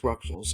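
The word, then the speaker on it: Rouxls: We go up the Car Castle and beat the puzzles of rules, pronounced Ruxels, and because of the Ruxels of 3, we fight Crowned again.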